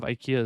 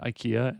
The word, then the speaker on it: IKEA: Although I heard that the pronunciation of IKEA is not IKEA, and it's more like IKEA.